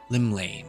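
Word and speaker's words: Llymlaen: Limlane, that's how you pronounce it.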